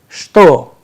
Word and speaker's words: что: Dear learners, please remember the word что, which means what, is pronounced as что, sh, te, o in place of che, te, o.